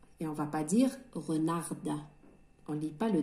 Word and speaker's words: renard: Un renard. Renard. Le renard ou un thalab? Re, R-E, re. Nar. Le D ici, na, harf D, la lettre D ne se prononce pas. C'est une lettre muette.